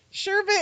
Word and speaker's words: sherbet: arms no there's nothing you say it correctly sherbet is correct but when i was